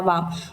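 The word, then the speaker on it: balm: बाम जो हम सिर दर्द करता है तो बाम लगाते हैं ना वो वाला बाम। बाम L silent.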